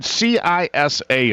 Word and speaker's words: CISA: Yeah, it's CISA.